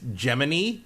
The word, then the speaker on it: Gemini: like an AI that talks you and it's geminy yeah it's spelled like Gemini but it's pronounced geminy because it's giny CRI Jiminy Cricket yeah who